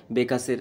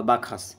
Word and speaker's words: Bacchus: এগুলোর দেবতাই হচ্ছে কিন্তু ডাইনোসার্স বা বেকাস বা বাখাস যেভাবে উচ্চারণ করতে পারো তো বেসিক্যালি এইভাবেই কিন্তু